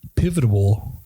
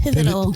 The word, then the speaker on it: pivotal: their education will be pivotable to pivotable PIV pivotal pivotable pivotal pivotal for and speech and language pathology so it's a three syllable word hasive to start with